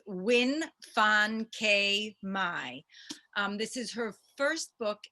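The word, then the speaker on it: Nguyễn Phan Quế Mai: which is the mountain sing and let me pronounce her name correctly because she's incredible it's win fan k mai this is her first book in english it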